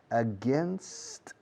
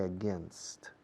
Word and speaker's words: against: You're swimming against the current. Corriente, current, current. Alternating current, direct current. You're swimming against. Fijaos en la pronunciación de against, no against. Against, gin, bin, tin, rin, tin, tin. Against.